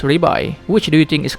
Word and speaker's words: Levi: Now that we have heard it in the anime enough, we know it is pronounced Ribai.